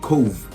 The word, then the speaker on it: Cobh: will have to be cove um now hope it's actually spelled c-o-b-h but that's how you pronounce cove apparently so it's in it's